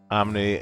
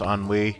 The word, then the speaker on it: ennui: Omni, inability to pronounce ennui.